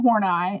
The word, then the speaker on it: Horney: the major people here Alfred Adler and Karen horney and yes that is how you say her